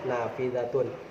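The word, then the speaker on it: نافذة: ini Oh iya ini ada Nun Alif Va Za dan tak merebut of ini noona dapat Ha Ada Alif ada Fatah juga fjr rap kemudian ada zat Fatah dan ada tak marbutoh dibacanya Nafidatun seperti itu temen-temen jadi Hai keterampilan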